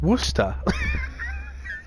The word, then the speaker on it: Worcester: it right away but why is Worcestershire pronounced Worcester that's command quite true